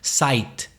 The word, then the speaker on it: site: all you know how if a word ends ite it's nearly always pronounced at the end ight for example site si te right abs tight commit ki